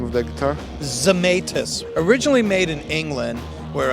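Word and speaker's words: Zemaitis: hey check one two how do you pronounce the name of that guitar zamus originally made in England where a Tony zamus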